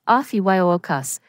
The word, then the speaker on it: Ophiuchus: Today, we're diving deep into the mysterious and often overlooked 13th zodiac sign, Ophiuchus. Yes, you heard that right, the 13th sign. Let's get started. Ophiuchus, pronounced as Ophiuchus, is a constellation that lies between Scorpio and Sagittarius.